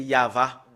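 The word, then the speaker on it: יהוה: Yod, He, Vav, E. Voilà comment on le prononce. Voilà le fait de le prononcer, c'est Yava.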